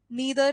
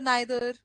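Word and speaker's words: neither: सो रादर रादर, शेड्यूल स्केड्यूल, नीदर नाइदर, ईदर आइदर, है ना?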